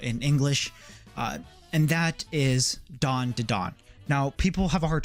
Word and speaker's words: Dandadan: manga coming out in English, and that is Dandadan. Now, people have a hard time pronouncing the name. I just say Dandadan.